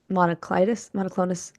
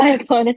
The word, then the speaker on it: myoclonus: But how did you get diagnosed with palatal laryngeal pharyngeal monoclonus? Oh no, I already messed it up. How do you say it? Myoclonus, it's okay.